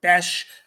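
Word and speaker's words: Bech: is another TCU receiver Jack Bes is the pronun pronunciation here um I know maybe it looks like Beck or something but Jack bash uh was the more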